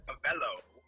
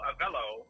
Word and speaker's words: Avelo: they use the word hello for the word avello okay get your pronunciation right so if you you use the two together of the hello avello so it is a Bellow a fellow okay